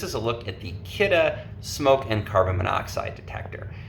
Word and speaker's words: Kidde: It sounds like kitty, but it's actually Kidde.